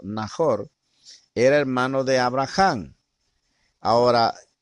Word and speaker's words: Nahor: Nahor prácticamente así se pronuncia la palabra en hebreo, Nahor, era hermano de Abraham.